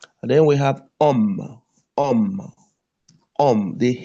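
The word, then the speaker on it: homme: You see most of the English words is the same with the French word but the only thing is the pronunciation. Then we have om.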